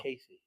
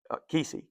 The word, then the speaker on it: Kesey: Casey? Kesey, I'm sorry, Kesey. Sorry, mispronunciation.